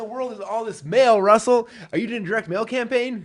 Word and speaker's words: Russell: genius that's his Brilliance Russell rhymes with funnel how to Market how